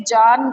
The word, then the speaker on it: ज्ञान: बट तुमने देखा होगा हमारी हिंदी की टीचर इसे जान पढ़ती थी, जान, क्योंकि ये ज, य और ना से बना है, और हम इसे ज्ञान पढ़ते हैं, ठीक है। तो वो भी प्रोनाउंसिएशन सही है, हमारा भी ठीक है।